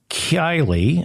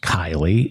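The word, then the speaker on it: Keighley: conservative party's mayor of Kylie I think it's pronounced Kylie in West Yorkshire has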